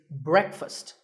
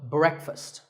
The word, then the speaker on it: breakfast: would you say it the proper pronunciation is not breakfast it's breakfast break with a short e sound and fust with an uh sound so breakfast you know what I